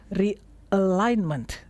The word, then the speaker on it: realignment: March is not a restart it is a realignment. Oke. Oke. The pronunciation realignment. Re eh. R eh. Kan tadi sudah kita belajar alignment-nya pakai eh ya, bukan e. Jadi rileks depannya tuh ya.